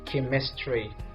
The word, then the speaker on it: chemistry: I say chemistry because the pronunciation of the first letter C is turned to be K now very good we're